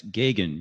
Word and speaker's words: Gagan: know going forward uh it's gagan you just ignore the first syllable and then go for it okay thank you uh